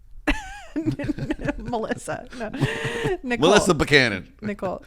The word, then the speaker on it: Nicole: Melissa ni Melissa banon Nicole it's Melissa spell n i o l e so the E is silent yeah it's not nii no all right that